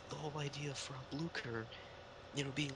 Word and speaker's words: Blücher: And then it's pronounced Blücher.